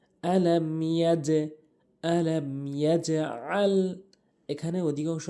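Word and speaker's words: أَلَمْ يَجْعَلْ: এরপরে দ্বিতীয় আয়াতে যেই ভুলগুলো, আলাম ইয়াজআল, অনেকেই আলাম ইয়াজআল বলে, আলাম ইয়াজআল বলে, ভুল উচ্চারণ। সঠিক উচ্চারণ হচ্ছে আলাম ইয়াজে, ইয়াজে। এখানে ইয়া দিয়ে জিমকে যে ধরবো, এখানে ধরার ক্ষেত্রে ধাক্কা হবে, দুটি ধাক্কা হবে, একটি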